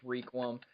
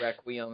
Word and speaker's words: Requiem: Yeah, and for those who get upset with the pronunciation of Requiem, you can call it Requiem if you want.